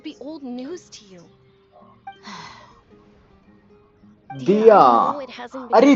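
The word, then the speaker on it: Dehya: दिया अरे दिया नाम है यार डिया नहीं दिया दिया लोल दिया नाम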